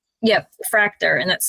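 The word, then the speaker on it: Fraktur: Fractor. And that's spelled F R A K T U R.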